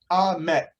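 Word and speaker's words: אמת: called truth mem tough that spells ahmet as almost sounds like the word amen because they are the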